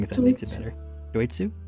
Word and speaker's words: Doitsu: wrong if we consider do it sue it's do it si yes do it sue got you I'm just